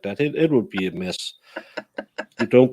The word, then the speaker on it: Mads: Yeah, it's like mess. That's the way to pronounce it. Take the D away and put an extra S in.